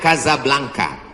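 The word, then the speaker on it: Casablanca: kuliah nama negaranya Maroko ibukotanya tulisannya casablangca cara bacanya Kadzab langka Kaza artinya rumah Blanca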